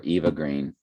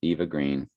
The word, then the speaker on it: Eva Green: Just spelling's a little off, but when you pronounce Eva Green, and you pronounce that, It's called evergreen, but it's really evergreen.